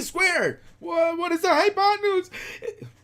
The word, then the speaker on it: hypotenuse: High with a Y, pot. This is a P, by the way. And noose, that's an S.